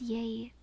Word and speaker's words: yea: The same as yay from yay or nay.